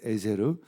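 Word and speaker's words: עֵזֶר: 에벤에셀에서 에셀이 바로 에제르예요 히브리어 단어로 원래 발음하면 에세르 에제르가 이제 아까도 했던 도움이라는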